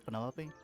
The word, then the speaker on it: Penelope: Is that short for Penelopey? Officially, yes, but I never can be bothered with all four syllables of it.